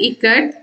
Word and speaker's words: ikat: Someone yelled ikat and a few children giggled. Janaki teacher said it is pronounced I as in I, it, ka, and as in Kamala, and T as TH in both.